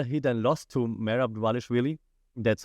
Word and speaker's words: Dvalishvili: Sean O'Malley, the champion, and if you look at like his physical behavior, after he then lost to Merab Dvalishvili, that's how you say it, Chelsonen, he left.